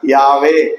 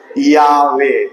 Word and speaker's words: யாவே: தன்னுடைய பெயர் என்று சொன்னது சரியான உச்சரிப்பை எபிரேய மொழியில நாம் சொல்லணும்னா யாவே சொல்லுங்க பார்க்கலாம் யாவே அந்த பெயரை அந்த பெயரை